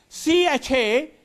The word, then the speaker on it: chameleon: The word is C-H-A-M-E-L-E-O-N.